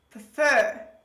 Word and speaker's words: prefer: in this word but actually in this word the stress is on the last syllable on the second syllable say with me prefer